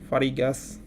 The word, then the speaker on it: fariĝas: Liber plus eo farigas libreo. ねえ、La vort radico estas libro. Do libra plus eo fariĝas librejo. Iya bener G, ini dibacanya J.